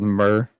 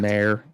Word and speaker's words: Mer: Okay, so the elves in Skyrim are called Mer or Mare, depending on how you pronounce it.